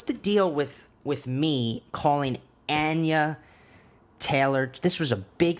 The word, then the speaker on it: Anya: But it's not Anna Taylor-Joy, as I thought for some fucking reason. It's Anya.